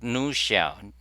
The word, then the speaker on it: Nushell: Okay, go to new shell. New shell. I suppose you pronounce it new shell, and it's written in Rust.